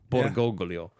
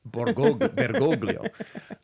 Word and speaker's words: Bergoglio: George Mario, probably like Jorge Mario Bergoglio. Borgoglio. You want to try that again? Bergoglio.